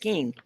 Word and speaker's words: Kuehn: link in the description you can find becky keane it is spelled k-u-e-h-n yep yes yeah and pronounced king right right becky thank you so much for